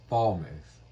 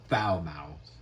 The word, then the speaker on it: Falmouth: Okay, again, it's pronounced Warrington, and the F city is pronounced Falmouth, not Falmouth.